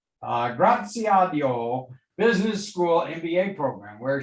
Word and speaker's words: Graziadio: she's a graduate of pepperdine's graziado i'm sorry for that mispronunciation there graziadio business school mba program